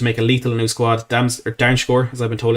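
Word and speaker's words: Dumfries: Darmscore, as I've been told it's pronounced.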